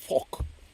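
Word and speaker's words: phoque: P H O Q UE E is uh seal in French and it's pronounced FK.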